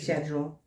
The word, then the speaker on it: schedule: Americans say schedule. Schedule. I know that's what British people say, schedule.